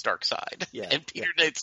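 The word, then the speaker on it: Darkseid: It's kind of like Dark Side and Dark Seed, right? When you read the comic, it was like, hey, nobody calls it Dark Seed.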